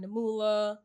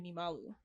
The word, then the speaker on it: Nimalu: I've gotten Namula, like it's just like, yeah, Namula, Niamalu. I'm like, bro, it's literally Nimalu.